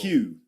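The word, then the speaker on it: queue: Q. Q Q just like the letter Q.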